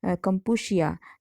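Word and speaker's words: Kampuchea: यहाँ पे कंबोडिया का नाम कंपूशिया, CH जो है वो श की प्रोनाउंसिएशन है कंपूशिया।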